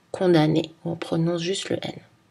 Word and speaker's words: condamné: les deux amnésique amnesty attention dans les mots automne condamné on prononce seulement le n à la fin des